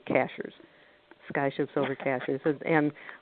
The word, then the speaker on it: Cashiers: ships over cashiers comm cashiers is spelled like a cashier at the grocery store even though they say cashiers sky should silver caches